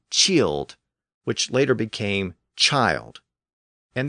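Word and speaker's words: cild: i l d and the pronunciation of that word eventually evolved from its original killed to chilled which later became child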